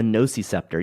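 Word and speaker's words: nociceptor: Oh yes, the it's called a noisyceptor. Yeah, it's it's how do you spell that?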